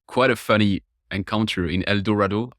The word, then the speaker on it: El Dorado: a funny encounter in El Dorado El Dorado it's a unique Arkansas pronunciation rhymes with tornado is how you remember it okay yeah the operator